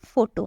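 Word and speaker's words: photo: आप फोटो लेते हो तो फो पीएच का यूज़ हुआ है फोटो भी पीएच का यूज़ या हुआ है इसलिए हम इसको बोलेंगे फन और इसको बोलेंगे फोटो समझ में आया कहां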